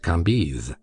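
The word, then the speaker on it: Cambis: was pronounced Lei KES c a m b i s pronounced kiz these antique visages and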